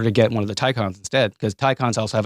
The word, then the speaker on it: Taycan: Porsche makes an electric car called the Taycan, Taycan, but they pronounce it Taycan.